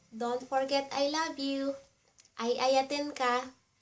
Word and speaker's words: Ayayaten ka: sooo much Mailiwak kenka unay unay And, don't forget I love you, Ayayaten ka. Ay a ya ten ten ka Ayayaten ka And if you wanna